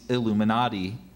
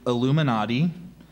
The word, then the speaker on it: illuminati: support of the city's Illuminati is there any other way to pronounce it uh a couple of ways so I gave you Illuminati I also have Illuminati and illuminat I Illuminati e l u